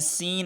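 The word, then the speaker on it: scene: C से पहले S है तो इसलिए C साइलेंट है। सीन है, यहाँ फिर C से पहले S आया है, यहाँ पर C साइलेंट रहेगा।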